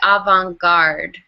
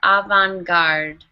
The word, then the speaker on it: avant-garde: to you um but this word is actually from French so it's not pronounced how you would pronounce regular English words it's actually avant-garde try that avant-garde avant-garde good aunt I'm me